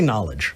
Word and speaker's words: knowledge: useful okay the the there's a silent k in half of those no let's say knowledge knowledge defining knowledge is